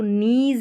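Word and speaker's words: knees: इस तरीके से तो एन से पहले जो के आता है ये साइलेंट रहता है इसका उच्चारण नहीं होता तो नीज है यहां पर नीज तो यहां पर के का उच्चारण नहीं हो रहा है के साइलेंट है नीज और एन का उच्चारण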